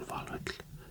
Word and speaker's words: Valhöll: Or Valhöll, how you say it or you would say it in Icelandic.